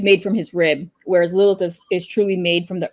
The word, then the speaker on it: Lilith: Well, yeah, it's pronounced Lilith.